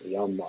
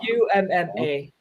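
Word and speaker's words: 엄마: It's Yumma. UMMA.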